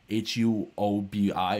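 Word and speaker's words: Huobi: lot of the prominent pronounced a Wahby hu o bi which is like the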